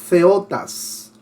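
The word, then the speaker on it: θεότης: Ahí tenemos la palabra TH significa, bueno, no es que significa, TH se pronuncia como Z, así como Theos, que significa Dios, pero en este caso es Theotas.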